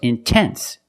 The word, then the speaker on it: intense: If you have a stress after the NT, if you have a stressed syllable after NT, then you have to pronounce the T.